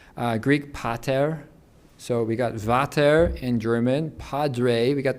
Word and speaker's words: Vater: And of course, the V in German, by the way, is pronounced like an F in English, Vater.